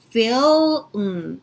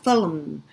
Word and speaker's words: film: 그리고 film 이렇게 다물어집니다. film 그래서 feel 할 때 L 발음 올리고 그 상태에서 바로 입술 다물어서 film 이렇게 나와야 되니까 발음 주의해 주시고 several 이렇게 됩니다.